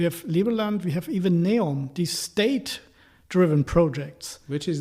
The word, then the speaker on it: NEOM: Neom.